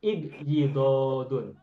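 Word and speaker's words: ابيضاض: Lalu pada saat masdar tidak menggunakan syiddah, tetapi syiddahnya dipecah menjadi 2. Sehingga ibyaddo yabyaddu ibyidodun. Nah, ibyidodun ini masdar ghairu mimi dan cukup 1 saja.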